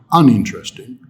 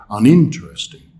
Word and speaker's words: uninteresting: Uninteresting, here we have a longer word with several syllables, but in this case, the stressed syllable is in, uninteresting. We don't say uninteresting, and we don't say uninteresting. We say uninteresting.